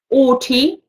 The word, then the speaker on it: haughty: Haughty, okay, здесь обратите внимание, это французское слово, искаженный французский, H не произносится.